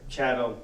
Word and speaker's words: chattel: chattel slavery is where chattel like rhymes with cattle it's property your livestock